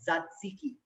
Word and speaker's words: tzatziki: and you make yourself tzatziki. I know it's a tongue twister Greek name. If you're sitting at home, repeat after me. Tzatziki. The first T is silent.